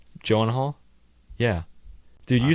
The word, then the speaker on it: Gyllenhaal: Gyllenhaal? Yeah. Dude, you say stuff. No, I've never tried to pronounce it.